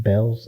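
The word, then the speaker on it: Bealls: got a a new bills I call it bills but it's called It's pronounced Bells it's a department store okay like kind of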